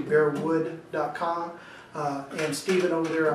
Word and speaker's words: Bearwood: that's with no s always pronounce it bear woods but it's actually bear would calm and Steven over